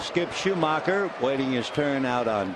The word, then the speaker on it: Schumaker: Schumacher, 33 years old. It's all in the pronunciation.